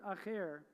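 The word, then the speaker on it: אחר: So if it was a resh, it would be pronounced, instead of echad, it would be pronounced acher.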